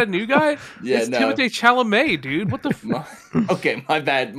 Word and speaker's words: Chalamet: isn't that how you say it Charlemagne Timothy chalamet the god Blanchette yeah have you been saying Blanche this whole time I haven't yes why it's